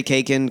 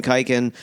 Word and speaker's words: Khaykin: tired of it cuz people say cake in kiken and then if they I have someone asks if you ask me how to pronounce my last name which good hosts do how do you spell it KH a yki n the case silence yeah but like I